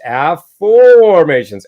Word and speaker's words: Afformations: Some people say, did you spell that wrong? No, I invented it. It's affirmations, AFFORMATIONS.